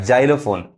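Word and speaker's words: xylophone: देखिए जो पढ़ाता है जैसे यहां पर अब जाइलोफोन अब य जो जी एक्स वाई क्या पढ़ ज पढ़ रहा है जाइलोफोन इसको क्या पढ़ेंगे जेनन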